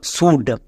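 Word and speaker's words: should: তারপরে চলে আসো এল এর পরে ডি আছে এল সাইলেন্ট ডি এর জন্য ডো তাহলে এর উচ্চারণ কি দাল সুড বোঝা গেল আমরা যদি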